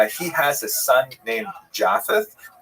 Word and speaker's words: Japheth: He has a son named Japheth. In the Ashkenazi pronunciation, that would be Yafes.